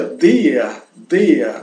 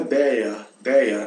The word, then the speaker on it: der: Esse círculo azul, der se pronuncia der, não é deia, não, é der, com uma D forte, que logramos tocando o paladar com a língua sem razonar los dientes. Então, tocando o paladar com a língua sem roçar, né, nos dentes.